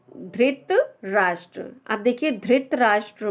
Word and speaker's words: धृतराष्ट्र: अब देखिए बहुत लोग इसको धृत राष्ट्र बोलते हैं, धृत, लेकिन इसका जो प्रोनाउंसिएशन है, अब बताइए धा में कौन सी